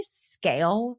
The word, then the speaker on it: Sgaeyl: just a second, named, I say Scale. It's spelled Sgaeyl.